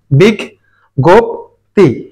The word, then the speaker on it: বিজ্ঞপ্তি: বিগ গোপ বিগ গোপ এইযে জ ইর পরিবর্তে দুটো গ এ এসেছে এবং বলা হয়েছে এখানে